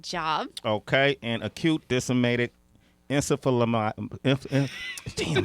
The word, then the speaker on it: encephalomyelitis: Okay, and acute disseminated encephalomyelitis. Damn, how you say that? Encephalomyelitis. Close. How you say it? Encephalomyelitis.